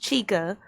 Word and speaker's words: Chixa: It's pronounced Chica.